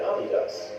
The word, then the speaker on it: Adidas: shoes could do the same to Puma and Adidas, which were at the time extremely popular in America.